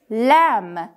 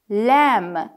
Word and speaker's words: lamb: might have found it duck duck is clear lamb bee is silent lamb i guess that you found that too pork